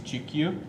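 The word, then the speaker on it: Chikyu: in this class i talked about the japanese gq and also which is spelled c-h-i-k-y-u g-q and um i also talked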